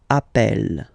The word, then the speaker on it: appelle: So when you get this a vowel and then you get a double consonant, and well, they are the same, then it does change the pronunciation of a. You tend to pronounce it like really open. That's the reason why you pronounce it appel, okay?